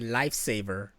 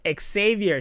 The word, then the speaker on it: Xavier: one chick call me lifesaver because she claims she didn't know how to say my name no it's like it's Xavier she's like lifesaver see I don't know